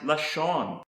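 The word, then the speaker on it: לשון: you that starts with the letter llama is pronounced lashon and this is the Hebrew word for tongue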